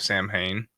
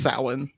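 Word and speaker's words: Samhain: that it was used in the Festival of Sam Hayne uh bro what it's pronounced sa sa don't don't ask me why I don't know I don't know why it's spelled Sam Haye but it's pronounced Sal I promise get it uh in the Adventure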